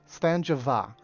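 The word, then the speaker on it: Sláinte mhath: called that's Slanjava, and it does not look it's spelled anything like that. Slanjava. You would expect at the end it would be like V-A or something, Va, but it's like M-H-A-T-H. It's crazy.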